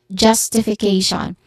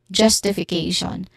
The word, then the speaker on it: justification: So this is justification. The stress syllable here is also on the syllable K. So this is justification. Again, justification.